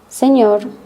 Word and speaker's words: señor: The letter ñ with the sound n. The n sound is pronounced a little bit like an N with a ham. Think of it as an ñ sound like canyon.